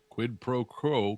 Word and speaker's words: quid pro quo: Quid pro quo. Quo. Yeah, I know it's hard to pronounce.